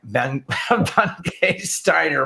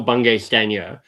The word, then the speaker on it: Bungay Stanier: that welcome michael by ben k steiner my apologies well this is how i say my name sorry people know it's michael bungay stanier but jonathan i once